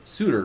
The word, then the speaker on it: Soutter: versus Nick Lamar and I'm pronouncing it Souter right good oh that is correct thank you you know my